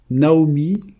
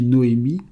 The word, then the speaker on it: Naomi: Naomi que l'on prononce aussi Noémi, c'est un noun aï même yode.